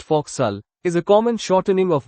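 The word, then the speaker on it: fo'c'sle: The nautical term folks slay pronounced fauxal is a common shortening of what word referring to the forward part of a ship where sailors live?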